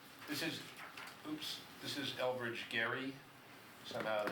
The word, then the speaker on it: Elbridge Gerry: ahead okay so this is oops this is Elbridge Gerry somehow the name for the turn became gerrymandering but that's how you pronounced his name apparently I've learned over the